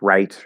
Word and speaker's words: write: w where in rap write wrote etc it's the w and the r are right next to each other and the w is just spelling it's not actually a pronunciation it's a silent w um in fact i